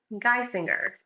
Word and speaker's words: Geissinger: How is your last name pronounced? Guy singer. Oh, okay. Like a male vocalist.